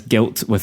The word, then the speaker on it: Gylt: And that's Guilt it's spelled GYLT if you want to Google it, because you'll get a bunch of other stuff otherwise.